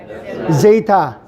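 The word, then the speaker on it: ζῆτα: 알파, 베타, 감마, 델타, 엡실론, 제이타. 제타라고 했는데 제이타라고 해도 돼요.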